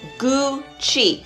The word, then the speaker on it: Gucci: louis vuitton louboutin no it's not cookie it's gucci say gucci gucci i'm gonna take